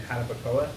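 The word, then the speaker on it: Jarabacoa: and then maybe one of the best meals we've had, it was up in a mountain town here called in Hanapakoa, is how it's pronounced.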